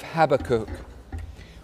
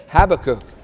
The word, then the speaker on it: Habakkuk: find Habakkuk, partly because you don't recognize it as Habakkuk because you call it Habakkuk. And I have been walking around for a significant part of this week trying out both pronunciations, Habakkuk, Habakkuk. And I have to have that pause before I do the American one. Because I can't do it, and so I'm sticking with my one.